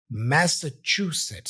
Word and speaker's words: Massachusetts: I have here CH remember this combination here is a chch sound CH sit so Master CH sit Massachusetts so CH is my Str syllable here Massachusetts m Massachusetts